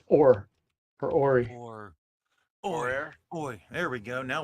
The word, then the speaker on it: Hoare: I've decided that Kevin's last name is pronounced Hoare. I was thinking the H is silent. I think it's or for Ori. Or, Hoare.